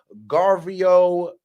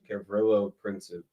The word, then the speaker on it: Gavrilo Princip: Guest duty said Luigi Mangione is going to go down in history as the 21st century Garvio, am I pronouncing that right? Gavrilo Princip.